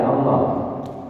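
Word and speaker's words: الله: ilahullah Ya kan Ya kenapa Kok dibaca Allah karena setiap Al di awal kata setiap Apa Bapak Ibu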